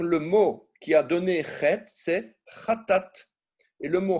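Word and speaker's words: חית: La prononciation est extrêmement importante et très difficile pour nous occidentaux. On va dire de dire chet. Un Français, il va dire ret, il va dire un R.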